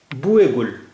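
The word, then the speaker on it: بوئے گل: बुए गुल, यहाँ पर ये के बड़ी ये के नीचे जेर है, तो ये इसका उच्चारण हुआ बुए गुल, यानी गुल मने फूल,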